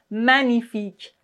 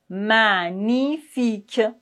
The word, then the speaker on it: magnifique: En général, dans ce cas-là, on ne prononce pas le G, comme par exemple magnifique, magnifique.